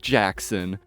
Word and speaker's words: Gackson: Well, it turns out that he wasn't messing with me, and someone on his dad's side was actually named Gackson, pronounced Jackson.